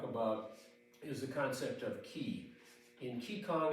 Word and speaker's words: qi: is the concept of key in key Kong it's spelled with a Q it's similar to the chi of Tai Chi and in fact Tai